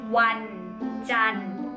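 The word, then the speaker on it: วันจันทร์: Thai the time we will say Monday is one done one done one is a day okay it's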